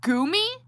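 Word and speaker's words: GUMI: It's pronounced Goomy.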